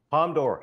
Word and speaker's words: Palme d'Or: I don't know the pronunciation. No. Palme d'Or.